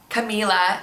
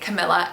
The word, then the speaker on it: Camila: are being pronounced differently, such as Camila, people are pronouncing it Camilla, and Eva, E-V-A, people